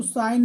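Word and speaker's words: sign: दूसरा है साइन तो साइन में जी साइलेंट है कॉम कॉम में बी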